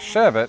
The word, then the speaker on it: sherbet: And Americans have often times gotten into the habit of sounding out an extra R in the final syllable.